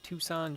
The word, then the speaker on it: Tucson: Because he was doing a tour of the Tucson Gem Show.